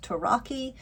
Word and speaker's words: Tarocchi: I believe it would have been pronounced, still is pronounced, Tarocchi.